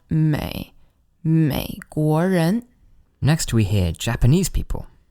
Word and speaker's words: 美国人: And the one pronunciation tip here is to always remember to really dip down with that 美国人 Next we hear Japanese people.